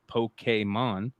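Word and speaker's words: Pokémon: Combining elements of role-playing and virtual pet raising, Pokemon, pronounced Pokemon, proved to have potent kick indeed.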